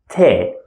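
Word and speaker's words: ت: from the first group Lita te is very soft that's why I'm smiling te while the second one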